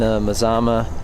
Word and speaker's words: Mazama: here the midnight and Mazama I'm gonna pronounce it that way from now on because apparently it comes from a mountain in Oregon which makes sense grass